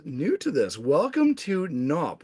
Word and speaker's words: NAWP: Welcome to NOP. We do pronounce it, not at AWP.